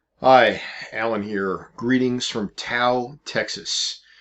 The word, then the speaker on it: Tow: alan here greetings from tau texas that's spelled t-o-w but it's pronounced by the locals tau having been a winter